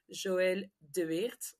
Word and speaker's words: Joëlle De: name just in case you wonder how you pronounce it is Joel de so it's a a flamish last name so